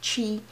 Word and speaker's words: Twi: But it's T-W-I, it's pronounced Chi.